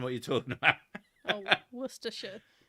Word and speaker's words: Worcestershire: Worcestershire. Perfect. Exactly, that's how it's pronounced.